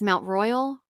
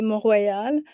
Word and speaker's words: Mont Royal: don't know if it's Mount Royal or Royale. I don't know how you say it, but which would you Yeah. prefer? So in English, we say Mount Royal, in French, we'll say Mont Royal.